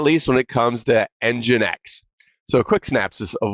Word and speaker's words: nginx: management stories with free engine X is I mean is maybe how I would say it and how I'm going to say it since it's my story